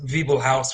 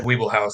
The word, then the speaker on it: Wiebelhaus: Well, I think the correct German pronunciation is Wiebelhaus with a kind of like a V sound at the beginning, but we've always said Wiebelhaus, so.